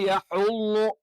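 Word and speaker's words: يَحُضُّ: വാ എന്ന് പറയുന്നത് വലാ യഹ്ളു യഹ്ളു അവിടെയും യ കറക്റ്റ് ആയിട്ട് ഉച്ചരിക്കണം യഹ്ളു ആയി പോകരുത് യെ എന്നുള്ള ഉച്ചാരണം തെറ്റാണ് വലാ യഹ്ഹുളു ള ളാദിന്റെ ളാദ് പലപ്പോഴും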